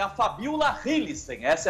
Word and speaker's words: Hillesheim: com a namorada dele, que é a Fabiola Hillissen. Essa é a pronúncia do nome dela, né?